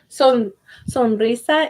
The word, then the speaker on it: sonrisa: Sonrisa is smile. Sonrisa has one R, so I don't really trill it. I don't say sonrisa. No, I say sonrisa. Sonrisa. So it's just like a short trill.